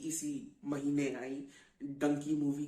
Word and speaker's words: डंकी: का प्रोसेस होता है जिसे डोंकी कहा जाता है और डंकी प्रोनाउंस किया जाता है उसको सिर्फ 15 20